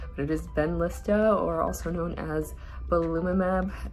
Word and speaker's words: Benlysta: i mentioned it and it was completely just butchered but it ben lista or also known as blumimab which is the